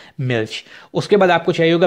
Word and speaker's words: Milch: तरह मिल्च कहते हैं, यानी कि MILCH। उसमें आप देख सकते हैं कि जो CH है वो हमने शुरू में भी किया था इश में, कि वो शे की साउंड जो है ना वो आपको देता है, तो मिल्क आपका बन जाएगा मिल्च।